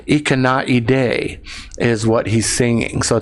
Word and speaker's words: Ikanaide: looks like Dimash has given me the correct pronunciation Ikanaide is what he's singing so thank you Dimash